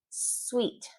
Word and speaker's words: suite: Sweet.